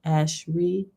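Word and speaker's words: אשרי: that to a hebrew word that describes it ashari that said it right ash reed ash look you gotta put like dashes to make sure i pronounce it right ash reed it's the word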